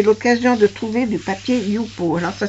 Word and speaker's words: Yupo: Si vous avez l'occasion de trouver du papier Youpo, alors ça s'écrit Y-U-P-O.